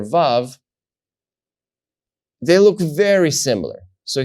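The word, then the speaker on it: ו: You have Aleph, Bet, Gimel, Dalet, Hey, and then you have vav, vav. Vav is pronounced like the letter V, like V in English. So simply V, Volkswagen, V.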